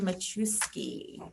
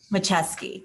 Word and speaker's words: Macheski: And we have with us also Machuski. Did I get that right? Close enough. Please say it right. Macheski.